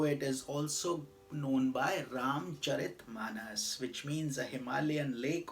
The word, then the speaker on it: Ramcharitmanas: A lot of people call it Ramcharitramanas. That's not proper. The right way to say it is Ramcharitmanas, because it is about the character of Lord Rama and his glories.